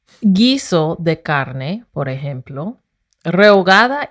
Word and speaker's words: rehogada: That's why it says rehogada y cocida, because Renata said rehogada. What did you say? Rehogada y cocida. It sounds like the word hogada, and I hate tortas ahogadas.